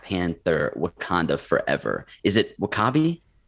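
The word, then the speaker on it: W'Kabi: Is it Wakabi? How you pronounce his name? Wakabi.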